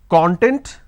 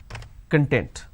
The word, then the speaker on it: content: this as foreign t y I can either pronounce this as content or I can pronounce this as content so content content we don't really understand what